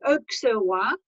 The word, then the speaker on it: Auxerrois: Now, the next grape that you've got on there is Pinot Blanc and Auxerrois. We pronounce the X in Alsace, Pinot Blanc, Auxerrois.